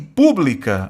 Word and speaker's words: pública: Fórmula e pública, aí sim, nós temos duas palavras proparoxítonas. Tudo bem? Sílaba tônica é antepenúltima.